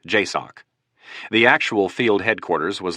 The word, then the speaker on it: JSOC: Joint Special Operations Command or JSOC, pronounced JOCK.